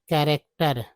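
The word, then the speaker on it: character: हो गया कैरेक्टर कैरेक्टर कैरेक्टर का मतलब हो गया सी एच ए से कै हो गया। आर ए सी से रैक हो गया। और इ आर को आर बोलते हैं। टी लगा तो टर हो गया।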